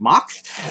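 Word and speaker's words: Mack: and as far as mock rides you know it's spelled Mac for those of us here in the Saints but it's pronounced mocks they have made some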